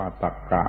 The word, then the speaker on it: ตรรกะ: มา ถึง คำ ว่า ตรรกะ ตรรกะ ชาว บ้าน ไม่ ค่อย รู้ เรื่อง แต่ มัน อยู่ ใน ลำดับ อักษร ก็ ต้อง เอา มา พูด ตรรกะ ตรร ก อ่าน ว่า ตรรกะ แปล ว่า ความ คิด